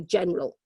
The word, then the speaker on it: general: there Jennie general but in terms of pronunciation we would tend to say general and we'd miss out that middle syllable that middle vowel so one of the